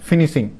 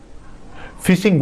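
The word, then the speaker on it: phishing: तो इसको बोलते हैं फिनिशिंग। क्या कहलाता है? फिनिशिंग। 47 फिशिंग बोलते हैं, सॉरी गलती से प्रोनाउंसिएट हो गया, तो फिशिंग बोलते हैं, ठीक है।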